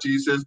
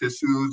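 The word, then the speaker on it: Jesús: they said you know this is not Jesus this is issues this is how you pronounce it I it took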